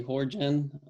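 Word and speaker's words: Jorján: Most people call me Horjan just because they can't pronounce my name, but it is pronounced Horjan because there's an accent on the A.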